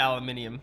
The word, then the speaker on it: aluminium: As members of the Commonwealth, we are supposed to say aluminium, and I don't like that. It's just too many syllables, man. Aluminum's easier. But I'm gonna stick to aluminium because I'm all right.